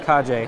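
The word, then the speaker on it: Kage: It's not actually pronounced cage. It's pronounced Kaje.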